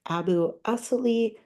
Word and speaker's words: AbuAssaly: you so much um my name is pronounced Abu as just like we and us and I am the